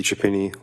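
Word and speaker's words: Chiappini: My name is Chapini. Last name is spelled C H I A.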